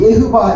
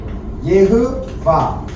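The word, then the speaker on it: יהוה: 그런데 우리는 여호와라고 발음하지만은 그것은 독일식 발음이에요. 근데 원래 히브리 발음은 예흐바 해보세요. 예흐바. 예흐바.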